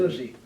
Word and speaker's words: Dalhousie: Dalhousie, okay, is that how you 195 pronounce it? Dalhousie.